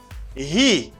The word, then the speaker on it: he: He, you stress the H. He, not E, it's he.